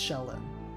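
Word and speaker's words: Shelyn: can find a good is it shellin or shayin s h e h how do you pronounce that shell yeah shellin okay so it's shellin uh let's see I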